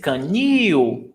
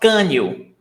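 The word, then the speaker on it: canil: the stressed syllable is canoe it's not kanye can you see the difference canoe the stressed syllable is the last one canoe that's why drop the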